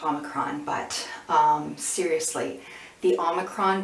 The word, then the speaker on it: omicron: oh my cron okay well it's actually pronounced omicron but um seriously the omicron variant sounds like